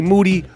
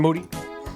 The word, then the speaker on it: Moody: over their asses Moody last name rhymes with Duty the three-time podcast co-host